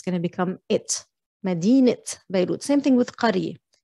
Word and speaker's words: مدينة: Just be mindful, مدينة is a city, but when you're annexing a noun like مدينة بيروت, the sound is gonna change to it. So مدينة, you're not pronouncing the round تا at the end, it becomes an e